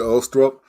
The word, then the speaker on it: Ulstrup: be a very powerful, unique series of Ulstrup. I didn't say it right. Say it right for You me said again. it correctly, Glenn. Ulstrup.